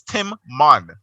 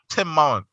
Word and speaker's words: Timon: So your name is Tim Mon. Tim Mon. Yeah, it's from the Bible. How do you pronounce both of the M's? He said the other M is silent.